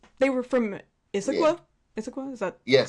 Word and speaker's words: Issaquah: Issaquah, is that Yes. correct Yes. Yes.